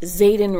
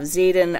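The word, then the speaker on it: Xaden: Now we have Zaden Ryerson, or however you want to say his name, it's X-A-D-E-N.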